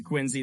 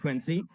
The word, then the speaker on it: Quincy: Some of you may pronounce it Quincy, though, but I pronounce it Quincy.